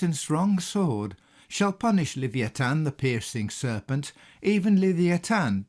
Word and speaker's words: Leviathan: the screen is called Leviathan in the Bible, this being how the name is pronounced in the Hebrew. You may be more familiar with the widely accepted pronunciation of Leviathan.